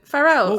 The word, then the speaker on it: Pharrell: How do you pronounce his name? Pharrell.